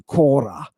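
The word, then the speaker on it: κόρα: Kora cor here right I pronounce it like the dorians do Kora right but look down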